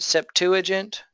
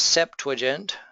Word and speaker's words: Septuagint: pronounce it there uh some people here pronounce it Septuagint but the correct way is septent um it's a Latin